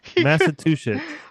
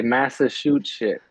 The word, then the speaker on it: Massachusetts: Y'all say it wrong. Massachusetts. On one of these Some shows, people say massa shoot shit.